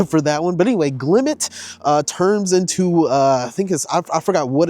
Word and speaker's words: Glimmet: Glimmet. Yes, I said it right.